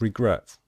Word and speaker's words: regret: It's the same with regret. With regret, we stress the last syllable, the final syllable.